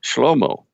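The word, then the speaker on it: שְׁלֹמֹה: Well, his name, we pronounce it in English as Solomon, yet in the Hebrew it's Shlomo, which doesn't sound like Solomon at all.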